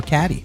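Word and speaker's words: Cady: Regina Gretchen Karen or cadd that's me it's pronounced like Katie my bad in passing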